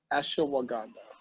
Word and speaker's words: ashwagandha: This is actually a adaptogen, an herb, and it's called ashwagandha. It's spelled just how it sounds, ashwagandha.